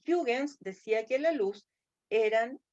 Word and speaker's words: Huygens: Pero había un correligionario de él, y era Huygens, o Huygens, porque se escribe Huygens, pero se pronuncia Huygens.